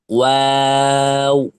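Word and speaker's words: واو: করে দিলে হবে না দুই ঠোট গোল করে সামান্য খোলা রেখে সামান্য খোলা রেখে চার আলিফ টান দিয়ে কয় আলিফ টান দিয়ে চার আলিফ টান দিয়ে উচ্চারণ করতে হবে ওয়াও অর্থাৎ যখন ওয়া বলবেন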